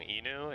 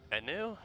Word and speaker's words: Enu: I've always been saying her name wrong. Inu? It's Enu?